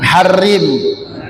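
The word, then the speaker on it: حرّم: Allahumma harrim, bukan haram, tak, bukan, karena harokatnya di bawah tasdid, itu kasrah. Kalau di atas tasdid baru fathah.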